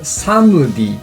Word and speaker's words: Somedy: S: It's pronounced "some-dee".